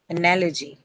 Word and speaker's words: analogy: it's on nah okay analogy okay so it's The ly is your uh suffix and uh in such a case you'll get gets marked on the uh penultimate syllable the syllable right before the one carrying the suffix.